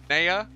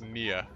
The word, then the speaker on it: Nea: Fun fact, so her name is actually Nea. Everyone pronounces, or everyone says Nia.